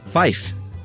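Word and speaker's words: five: And 5 is fife, to keep the word fire distinct in some dialects.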